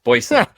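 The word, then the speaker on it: Boysen: I always pronounce Greg's last name wrong. I almost said Boylan, and that's the Bulls former head coach, Jim Greg. Boylan. No, yeah. Yes. Boyson. Boyson, thank you.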